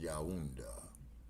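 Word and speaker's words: Yaoundé: Uh, there's Yaunda right there in the camera room. Y A U. No. Y A O U N D. That's pronounced Yaunda.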